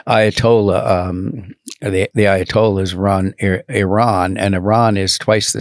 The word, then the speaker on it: Iran: to pronounce it is Iran that's how the Iranians pronounce it they don't say Iran so Iran uh has